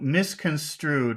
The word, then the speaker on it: misconstrued: Strood is definitely the accented syllable, but miss is also a very important syllable here because it means it's really the focus like it something was wrong. I understood wrong. So you have to also emphasize miss.